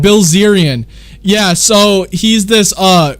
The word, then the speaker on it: Bilzerian: guy named dan blizzarian dan blizzarian yeah yeah or brazilian i don't know how how you say it uh i i've heard that guy recently this is what happened bilzerian yeah so he's this